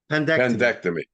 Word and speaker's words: appendectomy: I think is appendostomy, pendestomy. I'm not sure how to pronounce it. Pendectomy. Thank you.